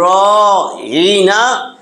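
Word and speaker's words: رَاعِنَا: ওখানে উচ্চারণ কিন্তু রাঈনা, রাঈনা। র আলিফ জবর র, আইন জের ই, নুন আলিফ জবর না, রাঈনা।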